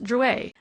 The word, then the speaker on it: Drouet: "It's pronounced Drouet. Our family was French on my father's side."